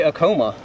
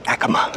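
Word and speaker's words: Acoma: American Indian tribes okay I used to say aoma but AKA sounds a little better I used to say aoma too until a Native American came up to me and said the the correct pronunciation is Akama all right indeed good to learn something and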